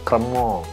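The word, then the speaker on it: crémant: namanya kremong ya atau tulisannya cerman ya bukan preman cerman bacanya kremong Ya nah sedangkan yang di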